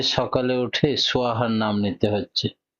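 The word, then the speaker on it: স্বাহা: করেননি যে সকালে উঠে সোয়াহার নাম নিতে হচ্ছে সাহা নয় সোয়াহা এই সোয়াহাটা কে কেন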